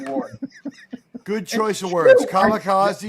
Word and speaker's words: kamikaze: Kamikaze is the right way to say it.